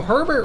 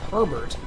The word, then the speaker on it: Herbert: it's very weird no herbert would be herbert because it's a name although in some parts of the country they would say not herbert we would say herbert this is again this